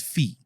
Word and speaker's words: Fee: with lead singer fee Weill his name is fee uh how do you spell that f f Fe yeah easily while he